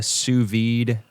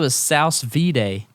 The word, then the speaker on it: sous-vide: have never had a sous-vide steak oh is that how you say that yeah out of a sow's VA no no I it's French it's a French I never had that